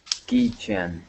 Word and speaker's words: keychain: Keychain. All right, now here, instead of saying chen, we're going to use a long A sound.